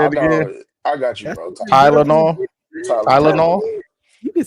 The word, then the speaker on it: Tylenol: Say it with me. Ty. Ty no law. That's how you say it, right?